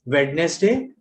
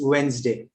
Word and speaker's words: Wednesday: Okay, and Wednesday. Wednesday is another word which is very heavily, popularly mispronounced as Wednesday. It's Wednesday.